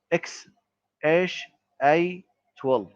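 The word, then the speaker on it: X Æ A-12: He has six children, including one with the Gremens, who they named X EA A Mas 12, which Musk says is pronounced X A 12.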